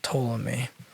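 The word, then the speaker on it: Ptolemy: for pronouncing that correctly there was a pea in front of that might not sound like it toll on me you have listened to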